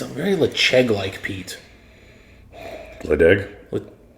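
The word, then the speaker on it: Ledaig: Ledeg? Lecheg? Yeah, that's how you say it. Even though there's a D there.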